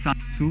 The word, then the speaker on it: Sun Tzu: written by Sun Tzu, or it's Sun Tzu. The pronunciation is Sun Tzu, who was a general.